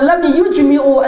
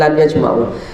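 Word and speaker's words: لم يجمعوا: Lianna sahabata radhiyallahu ta'ala anhum lam yujmi'u al-musta'mala. Lam yujmi'u bacanya, bukan lam yajma'u.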